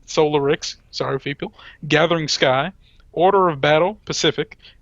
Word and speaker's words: Solarix: Oh, is it supposed to be pronounced a different way? Solarix. You said Oh. Solinix. Oh, excuse me. I'm leaning far away. It looked like an N. Solarix.